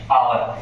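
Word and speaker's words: hour: देखिए एच के बाद जब भी ओ आता है और यू से पहले ओ आता है तो ये जो एच होता है ना ये क्या होता है? साइलेंट हो जाता है। इसलिए हमने इसको आवर लिखा है।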